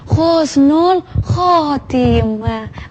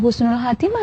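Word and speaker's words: حسن الخاتمة: Arab Apakah itu bacanya Khusnul Khatimah bacanya khusnul khatimah bukan bukan Husnul Khatimah ya Tapi bacanya khusnul khatimah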